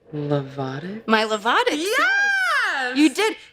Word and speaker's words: Lovato: We have to also talk about very important people in your life, like your, and I want to say it right, Lovato.